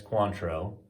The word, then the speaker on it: Cointreau: also for your cointreau that's cointreau in case you didn't know how to say it because it's very confusing and then five for